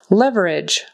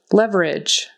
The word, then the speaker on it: leverage: Leverage. Leverage. That final G is kind of like a J and the E is silent. Leverage.